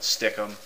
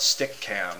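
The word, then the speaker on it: Stickam: is how it's pronounced like sticky camera like you take it move it around and put it somewhere other people have called it stickum it spelled stickum but I always thought it stick cam because it was a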